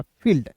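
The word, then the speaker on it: field: जब भी दो भवेल एक साथ रहते हैं तो एक भवेल का उच्चारण नहीं करते हैं।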